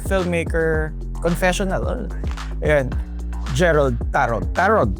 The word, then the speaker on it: Tarog: Tarog is how we pronounce his surname.